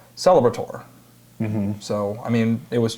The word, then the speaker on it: Celebrator: From the top of my head, I can't remember who I was talking to, but the ATOR at the end is ator, so Celebrator.